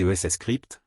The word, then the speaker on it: Scrypt: Les caractéristiques notables de Dogecoin, qui utilise l'algorithme Scrypt, prononcé ES Scrypt, sont son prix bas et son offre illimitée.